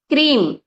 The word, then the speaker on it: क्रीम: क्रीम, KREEM, अगर हम इसको उच्चारण करें, KREEM, पर आप लिखेंगे हिंदी में ही।